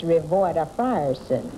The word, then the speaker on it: Ravoda Frierson: no, that's not exactly right. It's Ravoda Frierson.